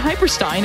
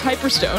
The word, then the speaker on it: Hyperstone: it right this time it wasn't hyperstein it was hyperstone i swear so i